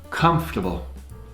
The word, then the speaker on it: comfortable: Comfortable. It's written comfortable, which a lot of people mispronounce, but it's comfortable.